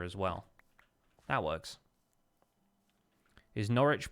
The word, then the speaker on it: Norwich: well that works his norwich pronounced like sandwich or WIC it's which norwich that you don't pronounce the w house home across recap